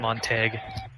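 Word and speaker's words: Montague: Hey, Ryan, I'm being told it's pronounced Montag. Montag? Hey, Ryan, I'm being told it's pronounced Montag.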